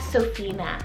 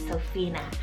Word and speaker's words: Sophina: one means lord is gracious then we have sophina cell s-o-f-i-n-a sophina really great option or alternative to sophia and